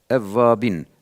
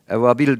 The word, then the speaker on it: Evvabin: Evvabin, evabil değil. Bazıları halkta ebabil diyorlar. Evet. O kuştur, o ayrı.